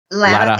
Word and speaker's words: Latta: And you correct me if I pronounce this wrong. Latta High School or Latta High School? Latta High School.